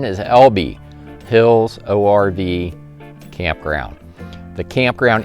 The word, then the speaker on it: Elbe: reservation for the lb it is pronounced alby some resources online had me saying elb but after i talked